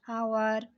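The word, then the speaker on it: hour: एक दो वर्ड है ऑनेस्ट, आवर, यहाँ पे एच का उच्चारण वावल टाइप से आ रहा है, तो इसीलिए यहाँ पे इसके पहले यूज़ हो जाएगा एन।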